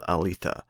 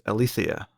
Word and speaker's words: Aletheia: episode 12 is called Alita so spoilers for the episode also I think I mispronounced that I think it's althia whatever anyway we're here